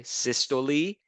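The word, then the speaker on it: systole: that's one cardiac cycle when the muscle contracts we call that syy when it relaxes we call that Diest that's how you pronounce these word okay systo and diesto now you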